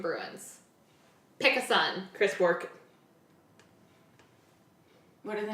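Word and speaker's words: Bourque: Oh god, I hate this last name because I swear I butcher it, but Bork is the last name.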